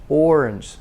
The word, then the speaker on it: orange: the schwa orange orange so the main stress is on the first one or so that's longer orange the second syllable is very short orange and it ends in a ja ja tongue bent up like this ja orange orange yogurt